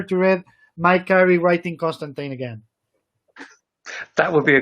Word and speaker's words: Constantine: the swamp thing where he said constantine rhymes with clementine oh doesn't he okay